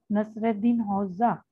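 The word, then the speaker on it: Nasreddin Hoca: The man in the picture, Nasruddin Hoca, pronounced Nasreddin Hoxha.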